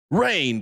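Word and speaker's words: Reign: Rain, but it gets you buzzing.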